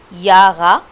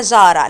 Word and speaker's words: Jahre: ايش بن 12 ياغا او يارا الت. ركزوا في الكلمه دي عشان بسمعها منكم كتير اسمها جارا، لا ده حرف اليوت، واليوت بنطقه يا.